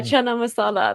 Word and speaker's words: chana masala: Chana Mas how do you say that yeah chana masala that's not even British that's that's that's Indian